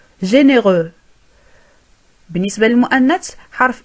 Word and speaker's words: généreux: إذن في المذكر تنتهي الكلمة بالفرنسية بحرف X. Généreux. ولا ننطقه. Généreux.